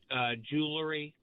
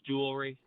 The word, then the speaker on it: jewelry: Please stop saying jewelry when it's jewelry. Wait, how does he say it? Jewelry. Oh, you mean the added syllable said jewelry? Jewelry? that's how rappers say it.